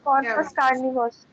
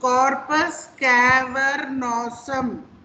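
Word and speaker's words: corpus cavernosum: Ma'am, corpus carnivus. Carnivore, सब अलग अलग अलग प्रोनाउंसिएशन कर दो। कॉर्पस कैवर्नोसम, ठीक है, कॉर्पस कैवर्नोसम।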